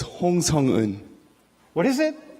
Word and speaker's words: Hong Sung-eun: So it's Hong Sung-eun. What is it? Hong Sung-eun. Whoa, shit. Dude. No wonder you can't pronounce that.